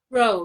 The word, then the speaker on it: Rho: is it Rho? Rho, yeah. Rho, okay. You pronounced it right.